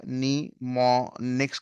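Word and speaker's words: mnemonics: नीमोनिक्स का नाम यहाँ पे दिया हुआ है। तो एम नाम का शब्द आपका साइलेंट है।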